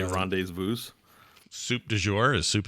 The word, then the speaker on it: rendezvous: French ones like Been our rendezvous. policy so far. We're not changing it anytime soon. Yeah. Rendezvous is a French word. It's rendezvous. Mm-hmm. You say rendezvous.